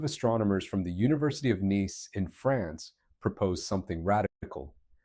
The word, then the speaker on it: Nice: Let me tell you about something called the nice model, pronounced nice like the city in France, not like the adjective, because it's revolutionized our understanding of the early solar system and the asteroids.